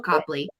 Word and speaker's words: Copley: I did not know if it was Copley or Copley, and phonetically it's spelled Copley, and that's actually how it is pronounced. So this is Royal Copley, mid-century.